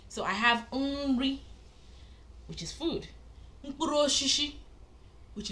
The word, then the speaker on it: Nri: So the first one I mentioned was Nri. I said Nri, which is food.